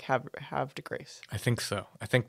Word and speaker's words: Havre de Grace: They said I was putting too much emphasis on the R. You were saying like Havre, and it's more like have de Grace.